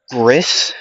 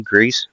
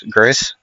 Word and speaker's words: Gris: Gris, I believe that's how you say his name. Grease or not Grease, Gris.